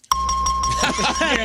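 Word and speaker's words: Gea: He's been eating G. Right. You pronounce it G. G E A. Gia.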